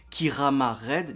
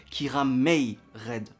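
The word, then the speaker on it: Kiramai Red: C'est pour ça que le nom des héros, ça s'écrit Kirama Red, mais ça se prononce Kiramei Red.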